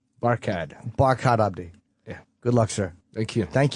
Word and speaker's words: Barkhad Abdi: Barkhad Abdi.